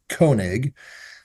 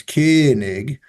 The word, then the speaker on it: Koenig: was Kings awnings so my last name is kig uh in German it's kig so and kig in German means king so my dad's first